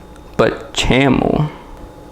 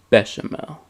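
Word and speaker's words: béchamel: with half of the but chamo a proper chef would know that the way to pronounce this word is bechamel i'm guessing that's the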